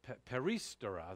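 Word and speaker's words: περιστερά: before but perry uh yeah stirrer so uh peristera that's how you pronounce it paristara basically this word is only used as i've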